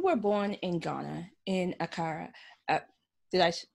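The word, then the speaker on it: Accra: of so you were born in ghana in acara uh did i pronounce it properly yes yeah and you were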